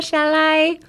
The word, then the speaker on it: shall I: ララララ、 shall I. So when you pronounced shall I, instead of thinking shall I, pretend that the word I is actually the word lie.